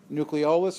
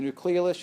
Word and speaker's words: nucleolus: a darker staining area called the nucleolus or the nucleolus. You'll hear it pronounced both ways.